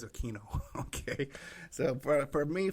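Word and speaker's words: Aquino: know anybody else who does not pronounce a quu i n o as a Kino okay so for for me for the rest of my life it's a keino I don't care what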